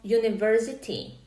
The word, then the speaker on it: university: To je síce pravda, ale čo keď máme slovíčko university? Píše sa ako u, teda píšeme tam samohlásku, ale vyslovujeme spoluhlásku. Vyslovujeme to j. Počujete na začiatku j.